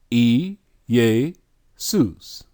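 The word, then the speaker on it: Iēsous: see this name and they give you the phonetic pronunciation and it's pronounced e yeh sues because they have no why and they have no Shh sound now you see this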